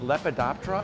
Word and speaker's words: Lepidoptera: So am I saying it right, Lepidoptera?